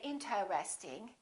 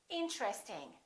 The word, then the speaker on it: interesting: at a few more most people don't say interesting they say interesting interesting this TR are connected interesting look at this